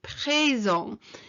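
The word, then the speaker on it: présent: it's going upwards so presong and the t at the end is silent okay so present and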